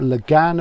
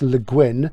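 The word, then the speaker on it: Le Guin: of course or lagin I say Lagan because I'm was um she of course herself said it's leguin um like Welsh Forin but it's not spelled like a Welsh gwiin but you know we let her get away with that I'm sure she's right about her own name um let's pull these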